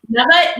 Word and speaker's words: Nava: Am I saying it right? Nava? You are saying it right. Okay. Yeah. Nava was my childhood nickname, because when I was little, I couldn't say love ya.